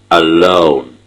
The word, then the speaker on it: alone: 11 in the software alone alone the stress is on the second syllable so it is um